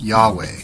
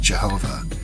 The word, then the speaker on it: YHWH: It is believed that it stands for YHWH, the name of the great architect of the universe, pronounced Yahweh, sometimes pronounced Jehovah, in the ancient Hebrew language from which the Bible was translated.